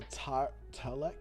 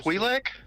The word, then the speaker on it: Twi'lek: As y'all are sitting there, there's a Talek. I'm saying that name wrong. The people, the two tentacles. Twi'lek? Twi'lek. Is that right? It's TWI space LEK.